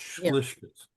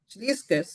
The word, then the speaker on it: Schleiskes: But they're mispronouncing it. It's Schleiskes. Schleiskes, you say.